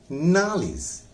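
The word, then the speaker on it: knowledge: Now plus नाल एंड इज, फिर नाल पर जोर लगाएंगे नॉलेज, जिसको हम लोग नॉलेज पढ़ते हैं।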